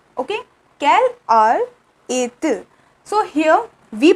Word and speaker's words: quelle heure est-il: It is quelle heure est-il? Okay, quelle heure est-il? So here we pronounce a and il by merging the t and I.